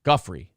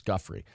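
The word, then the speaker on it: Giuffre: you pronounced her name Guffy that's what it is Guffy uh there is also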